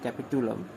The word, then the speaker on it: capitulum: call it as capital i'm wrong in this pronunciation that is capitulum spelling is c a